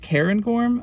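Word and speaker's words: Cairngorm: I looked it up I guess it's pronounced Karen gorm alright so anyways sensei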